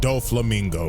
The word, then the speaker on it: Doflamingo: them all right now the Heavenly demon donot do Flamingo that's how you say his name already know